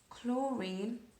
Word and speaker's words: chlorine: Chlorine, INE, because it's just an element on its own, a diatomic molecule.